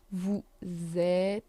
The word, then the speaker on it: vous êtes: Vous êtes. Again, S isn't pronounced.